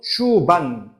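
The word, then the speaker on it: Schwann: 슈반. 독일어예요, 이거. 그러니까 슈반이 아니라 슈반셀이라고 이제 독일어 발음으로 해서 슈반 세포라고 하는 교세포의 일종이다라는 벌써 용어가 무슨 6, 7개가 벌써 다 튀어나와 버린 거지.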